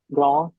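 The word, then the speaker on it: grand: ये पक्की हो जाएगी ग्रों ग्रोन द की साउंड नहीं आनी चाहिए फर्स्ट टू में मैस्कुलिन सिंगुलर और मैस्कुलिन प्लुरल में ग्रो ग्रोन पी साइलेंट कोसोनेंट है हम अ फेमिनिन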